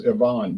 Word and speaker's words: Ivan: ABV brother Ivon 9 the way they pronounce it in Russia as Ivon brother Ivon 9.7% Ivan Ivon Ivan yeah Ivon